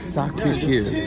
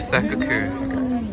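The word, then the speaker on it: Sacré-Cœur: Sacre Coeur. Sacre Coeur.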